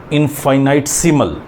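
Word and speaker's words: infinitesimal: को पीछे बताया था, मैं पीछे गलत प्रोनाउंस कर गया, इनफाइनाइटसिमल, यानी कि स्मॉल चेंज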